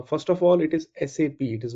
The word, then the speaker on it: SAP: of sap uh first of all it is sap it is not sap or sap normally I've